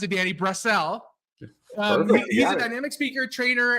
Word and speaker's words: Brassell: PHD Janny Danny you told me how to pronounce it Danny brassel he's a dynamic speaker trainer and author of